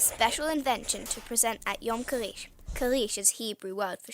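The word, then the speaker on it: יום כריש: day otherwise known as yam karish which is how you say shark Day in Hebrew more on that soon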